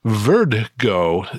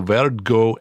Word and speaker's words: Verd-Go: announced the formation of Verd-Go Aero. I'm going to have to spell that for you. It's V-E-R-D, which is French for the color green, Go, G-O. So Verd-Go Aero, an innovative new